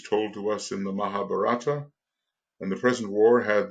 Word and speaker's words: Mahabharata: The war which is told to us in the Mahabharata, how do we pronounce that? Mahabharata.